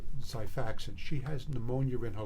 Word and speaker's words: Xifaxan: Xifaxan, spelled with an X, sounds like a Z, will treat infections, chronic infections.